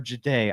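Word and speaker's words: Jahdae: You don't select Jade Baron uh or Jade, I think, is the proper pronunciation pronunciation.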